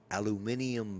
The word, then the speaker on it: aluminium: So, either way, aluminum And- or aluminium is the correct way to say it. I probably butchered the second way, but the first way is correct as well.